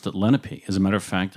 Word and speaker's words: Lenape: is Let It Be we talk am I pronouncing that right I know that must come from the Lenape Indian language yeah we've been saying Lenape we